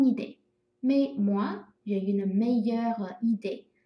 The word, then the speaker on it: meilleure: 那但是呢，它的发音是没有任何改变的哈。bonne meilleur 哈，比如说 c'est une bonne idée, mais moi j'ai une meilleure idée。